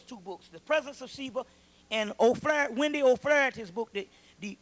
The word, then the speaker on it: Shiva: Sheba, yeah, S-I-V-A, but it's pronounced Sheba.